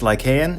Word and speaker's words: Lycaon: Today we've got this board by Lycaon. Pause. It's Lycaon, and I mispronounced it a couple of times in this video.